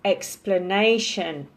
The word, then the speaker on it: explanation: Most of them it's the second one, but there is an exception, which is explanation napat, okay? So it is second to last syllable.